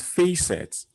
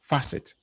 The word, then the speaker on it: facet: And then the word is not facet, because we can see face in it, F-A-C-E, but it is facet, facet.